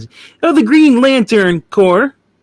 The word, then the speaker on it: Corps: oh the green lantern core not corpse yes even though it's it's spelled that way without the e his name is not